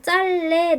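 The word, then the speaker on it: 짧네: 표준 발음은 짤레 나와 있어요.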